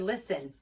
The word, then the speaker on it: listen: Look at the word listen. You don't hear the T, right? It's a silent T in listen.